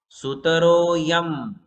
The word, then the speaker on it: सुतरोऽयं: सुतरोऽयं कैसे पढ़ना देखो, ये जो ये बीच में एपोस्ट्रोफी एस है ना, इसको, इसका कोई उच्चारण नहीं होता है। एक्चुअली उसमें अ होता है। क्या होता है? उस अ को साइलेंट कर दिया। जब हम अलग अलग करेंगे तब पढ़ेंगे, किंतु जब श्लोक पढ़ना हो तब अ को साइलेंट कर देते हैं।